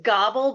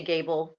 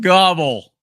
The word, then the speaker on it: Gabel: last name it's it's gobble but I say Gable because it's easier for everybody it's German and it's actually pronounced gobble yeah I know but